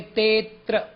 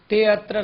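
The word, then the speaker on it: तेऽत्र: ते है, ते के बाद त्र है, बीच में अवग्रह चिन्ह है। हम कहेंगे तेत्र। ते अत्र नहीं।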